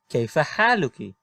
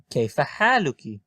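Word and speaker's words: كيف حالكِ: okay for hey Lukie caifa hey Lukie as you can see the sign is now under the word and it is pronounced as an e okay for hey Luca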